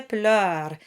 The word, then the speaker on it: pleurs: And finally, le rire et les pleurs. Not much new here. Pleurs rhymes with douleur and all the other sounds you've seen already.